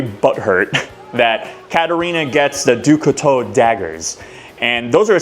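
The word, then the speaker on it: Du Couteau: I was having a hard time figuring out how to say her last name. Ducato. It means knife in French.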